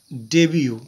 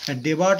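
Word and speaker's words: debut: ডেবিউ ডেবিউ থাকবে। দেখো এখানে আমরা ডেবিউ এখানে পেয়েছিলাম। ডেবিউ। ডেবিউ আমরা খুঁজেছিলাম। ডেবিউ এই দেখো ডেবিউ। ফাস্ট এপিয়ারেন্সে আমরা বলব ডেবিউ ডেবার্ট নয় এটা ডেবিউ বলতে হবে উচ্চারণের সময় ডেবিউ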